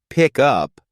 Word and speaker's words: pickup: in a phrase like pick up the stress usually falls on the second word up but if you're using it as a noun like pickup truck the stress is on the first part pick these small changes in